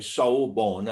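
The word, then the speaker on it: sawubona: that young zulu man take a word like seoul born okay soul born which is a national greeting in our country whatever language you speak but of course it comes from zulu s-a-w-u-b-o-n-a now if i asked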